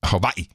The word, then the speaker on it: Hawaii: the volcano is and Hawaii you got to pronounce it correctly Hawaii there's not a lot